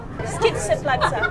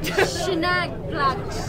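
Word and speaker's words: Schynige Platte: How do you pronounce it? Skitzeplatz. No. Schneeplatz.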